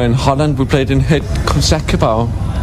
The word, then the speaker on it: Het Concertgebouw: Actually, last time we were in Holland, we played in Het Concertgebouw. How do you pronounce it? Het Concertgebouw?